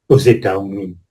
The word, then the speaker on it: aux États-Unis: C'est une liaison qui est obligatoire parce qu'on a un tiré entre les deux et ça change vraiment à lois aux États-Unis.